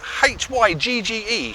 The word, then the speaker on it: hygge: Now I will spell it out for you. It's H-Y-G-G-E, hygge, meaning that cosy feeling of togetherness, or that cosy feeling of being by oneself.